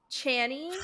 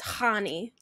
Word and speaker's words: Chani: Oh, it's a Chani for me. She's Jewish. It's Honey. Honey. Yeah. Okay, well then fucking YouTube lied to me. I was saying Chani. Chani is how you say it according to YouTube. That's what I was trying to think. Chani is the way wrong way to say it.